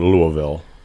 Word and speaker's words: Louisville: in Louisville, Yeah.